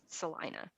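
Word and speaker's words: Celina: with it actually looks like Selena but it's pronounced Salina and um there is a an amazing barbecue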